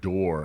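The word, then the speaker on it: Dore: The winner is George Dorr. Congratulations, George. That's George Dorr, D-O-R-E, George Dorr. I believe that's how you say it.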